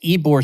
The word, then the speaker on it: Ybor: way for my transcriptionist ebor city is spelled ybor so if you're having